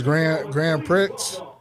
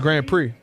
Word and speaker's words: Grand Prix: I seen his grand pricks. He was in the Grand Pricks. The Grand Prix. You You pronouncing the X.